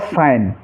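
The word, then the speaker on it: sign: ऐसे ही रिज़ाइन और साइन।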